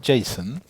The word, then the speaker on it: JSON: come back so um it's pronounced Jason that's that's what Douglas